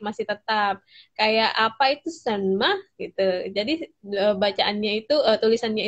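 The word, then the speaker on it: 什么: tetap kayak apa itu senma gitu. Jadi bacaannya itu tulisannya itu SHENME ya. Senma. Oke. Tidak dibaca me, tapi Ma.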